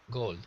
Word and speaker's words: gold: And we don't say the L. We drop it. So Okay. it's just like goat, gold. It's almost the same word.